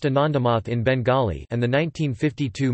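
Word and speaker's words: আনন্দমঠ: The song, Vand Mataram, which was written in 1876, was used in the book Anandamath in 1882, pronounced Anandamath in Bengali, and the 1952 movie based on the book.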